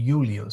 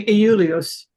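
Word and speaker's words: Iulius: that that um uh in English that's why we say Julius because we've chained all those consonant I's to J's Um, but no, it'd be ulios.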